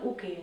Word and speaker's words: uke: La prima è Jodanke, la seconda è Gai One Uk, la terza è Naian Uke e l'ultima è Gedan Barai. In giapponese, "block" si pronuncia "uk", un termine che deriva da " ukeru", che in giapponese significa " ricevere".